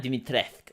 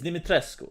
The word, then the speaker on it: Dimitrescu: like lady dimitrescu and it's not dimitrek it's dimitrescu okay cause i'm romanian i get to tell you how it's pronounced the problem with this